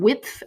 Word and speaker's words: Wipf: the Introductory Papers on Dante, Volume 1, from Wipf and Stock Publishers. Wipf, that's W-I-P-F. I never knew how to pronounce that until I got ready for this podcast.